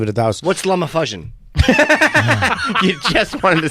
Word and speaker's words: LumaFusion: It's Is it fucking- pronounced? Luma? LumaFusion. Okay, LumaFusion.